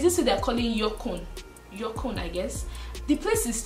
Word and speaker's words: Yukon: Yorkon, they call it Yorkon.